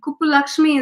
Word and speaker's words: Kuppulakshmi: And Kuppulakshmi is how it goes, but most people call me Kupu.